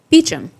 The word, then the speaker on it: Beauchamp: So she wants to keep them away from Frank, so she gives her name as Claire Beecham, which is the English version of Beauchamp, which is French.